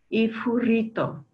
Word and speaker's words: ifurito: And in Arusha Ma, this one is pronounced with a voiceless bilabial fricative, ifurito.